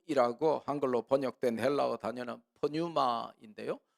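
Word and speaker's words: πνεῦμα: 한글로 번역된 헬라어 단어는 프뉴마 인데요 영어로 할 때는 피가 묵음 이라서 그냥 유마 라고 하는데 헬라어로 는 피가 있기 때문에 프뉴마 라고요 이영희 라고 한 걸로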